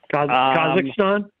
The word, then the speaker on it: Kazakhstan: mean they're going to cost erstan I'm not pronouncing it right you'll correct me Kazakhstan Kazakhstan they've been they've been running there I